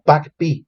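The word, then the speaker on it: PAgP: del Port agregation por bueno pronunciado como pack el pack o el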